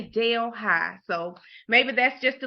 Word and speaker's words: Delhi: it's New Delhi but it's spelled the exact same way d e LH I but we say Dale High so maybe that's just